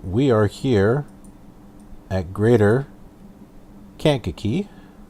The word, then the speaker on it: Kankakee: So we are here at Greater Kankakee. Kankakee, yeah. Just make sure I'm pronouncing it right.